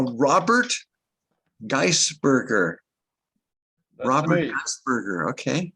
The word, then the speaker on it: Geisberger: Geisberger. Okay. It's me, Geisberger. Oh, is it Robert pronounced Geis- Gasberger?